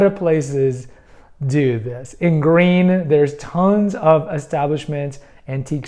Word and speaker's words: Gruene: places do this in green there's tons of establishments antique stores and whatnot there are the green fill in the blank and it's spelled gur g g r u n e and same for house